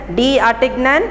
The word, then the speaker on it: D'Artagnan: You can pronounce it as D'Artagnan, or you can say it in the French language. D'Artagnan is pronounced as D'Artagnan.